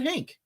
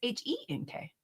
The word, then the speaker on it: Henk: I said Hank. No, but it's Henk. How do you pronounce it? I guess Henk. I said Hank. I'm saying Henk.